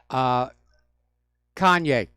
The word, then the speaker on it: Kanye: Now, do you remember, I'm not 100% sure how to pronounce his name, Kanye West or Kane West? Kanye West, thank you.